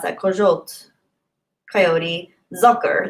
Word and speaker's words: Zucker: Zitronnej kojot, zucker. That makes sense. The zitro is citrus. Citrus. Yeah, lemon. Kojot. I don't know how to pronounce that. Kojot, coyote. Zucker, like sucker. Sugar. No, zucker.